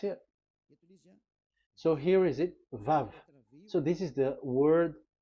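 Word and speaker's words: ו: So it's V as in Vogue. So it's really V. How to read Vogue? So the word, the shape Vav is really pronounced V, like Vogue. That is it, pronunciation. So here in this side, it's pronunciation. This is pronunciation. So according to the old Hebrew word today, those who the owner of the word, I mean, so it's a V. So don't change it into W, and you will say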